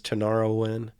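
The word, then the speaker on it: Tinariwen: band people's probably the most famous man is tanarawin spell that form t-i-n-a-r-i-w-e-n and they sing in arabic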